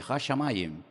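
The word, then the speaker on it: השמים: Hashamayin.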